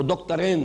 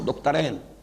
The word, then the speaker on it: دکترین: ابھی نام لوں گا، وہ دکترین ہیں، میں عربی تلفظ استعمال کر رہا ہوں، دکترین، دو ڈاکٹرز ہیں، لیکن یہ کہ وہ فکر جدید کے حوالے سے کرنے کا کام کیا ہے؟